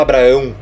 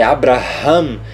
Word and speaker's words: Abraham: Abraão e ficou Abraham Você não vai falar Abraão o português traduziu errado Abraão é errado tiraram o h tiraram o rei é Abraham Esse é o nome